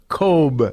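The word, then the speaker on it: Kotb: media and certainly victoria the hoda kobe thing is on is that how you pronounce yes okay well that too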